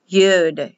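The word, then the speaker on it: יוד: Yud, Yud.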